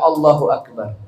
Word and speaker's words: Allahu akbar: apa adamul tasdidil Ba tidak boleh mentasdidkan ba dalam Allahu akbar contohnya gimana BB yang